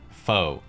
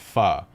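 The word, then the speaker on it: phở: pun involving the word foe fo sure foe ever fo true foe you etc but in reality the word is actually pronounced fa as in farted guys i've waited four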